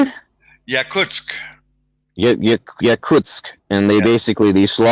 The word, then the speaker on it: Yakutsk: Can't pronounce it. And it was Yeah. how do you say it? Yakutsk.